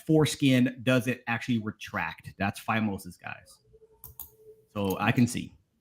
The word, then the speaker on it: phimosis: Take over-the-counter pain reliever relievers or I'm going to say phimosis or phimosis.